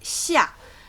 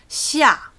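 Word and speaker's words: 下: We pronounce it xia. The X is a sh sound that has been thinned down almost to a s sound. So it's sh, xia, 4th tone.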